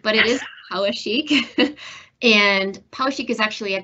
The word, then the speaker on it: Poweshiek: you know poik a lot of folks um pronounce it power shik but it is Pik and Pik is actually a county in Iowa